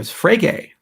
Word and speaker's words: Frege: You can also do that for Frege, rhymes with Rage.